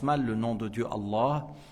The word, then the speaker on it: Allah: le nom de Dieu Allah il faut prolonger le alif avant le ha et le fait de